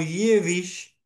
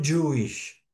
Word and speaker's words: Jewish: Porque la pronunciación de la palabra en inglés Jewish, que se escribe j era leída por los inmigrantes de Europa oriental, generalmente de idioma ruso, como Yevish y no Yuish.